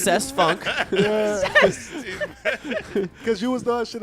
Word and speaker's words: Cest Funk: His name is definitely pronounced Cest Funk.